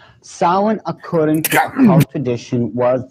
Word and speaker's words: Samhain: as if it's saying Samhain or something like that no no no no this is properly pronounced and the ancient Gail as Sawin Sawin occurred and government condition